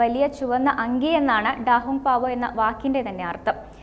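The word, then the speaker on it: 大红袍: റെഡ് റോബ് എന്ന് പേരിട്ടു ഇത് ചൈനീസ് ഉച്ചാരണത്തിൽ ഡാഹും പാവോ എന്നാണ്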